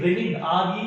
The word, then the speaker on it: renin: So here the renin, Renin, pronunciation is the same but it is different in function.